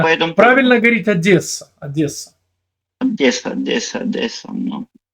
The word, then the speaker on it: Одесса: Правильно говорить Одесса.